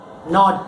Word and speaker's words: gnawed: He took a nibble, bite, gnawed, K-G-N. Here the letter G is silent. You pronounce it as gnawed.